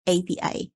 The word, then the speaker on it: API: apa sih itu ya Jadi ini bacanya FPI ya bukan api ya bukan bukan fire ya tapi memang dibacanya itu di eja gitu Abi oke nah jadi ini